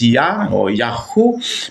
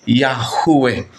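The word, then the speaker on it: Yahweh: B binibigkas po natin ang tamang pagbigkas po ng salitang yahwe nabasa babasa kasi natin yan sa mga Bible yahwe yung short form niya is Ya O yaho pero ang tamang pagbigkas po niya ay yahwe Okay Yan po ang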